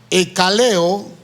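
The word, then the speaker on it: ἐκκαλέω: Esta palabra griega, que se pronuncia como está escrita, ekaleo, hermanos, es aplicable a todas las personas que un día entregaron al Señor su vida.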